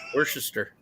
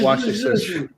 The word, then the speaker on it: Worcestershire: Worcestershire sauce. Worcester. Not Worcestershire.